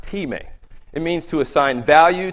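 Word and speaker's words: τιμή: The word used for honor here for both all people and the king is the same Greek word, pronounced time.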